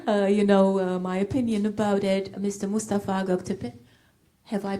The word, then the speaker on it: Mustafa Göktepe: Mustafa Göktepe. Have I pronounced your name correctly?